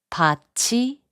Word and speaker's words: 밭이: 밭이, which means field is pronounced as 밭이.